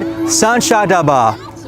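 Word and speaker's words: 三峡大坝: Welcome to the Three Gorges Dam, or as the locals say it, Sanchadaba.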